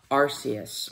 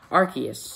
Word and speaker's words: Arceus: Number 7, the god of all Pokemon, Arceus, or Arceus, no matter how you say it.